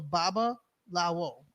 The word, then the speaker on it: Babalawo: So Babalawo.